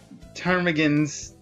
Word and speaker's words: ptarmigans: Ptarmigans on their heads. Do you seek to mock the great masters, low-born Philistine? I leveled up. P is silent. Typically it is.